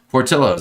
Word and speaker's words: Portillo's: Portillo's is Chicago food. You pronounce the L's. Thank you, Stephen Z. Portillo's.